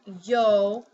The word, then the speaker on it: yo: vowel for example um yo it sounds like I'm sorry it can sound like a semi vowel or consonant for yo it sounds like a consonant but in a word